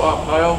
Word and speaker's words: Arpaio: How do you pronounce the old sheriff's name? Sheriff Joe Arpaio.